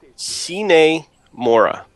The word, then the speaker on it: Sine Mora: S-I-N-E? Think so. Like a sine wave? Yeah, sine.